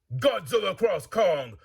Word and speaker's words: Godzilla x Kong: Much like the video game titles Namco Cross Capcom, Project Cross Zone, or Street Fighter Cross Tekken.